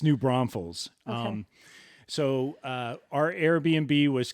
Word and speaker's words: New Braunfels: No, but I was calling it New Bronzefell or something like that. It's New Braunfels.